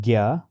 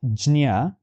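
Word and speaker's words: ज्ञ: Few people call it gya, which is quite the most prevalent. Few people call it jnya, which is also perhaps has been derived directly by conjugating these two consonants.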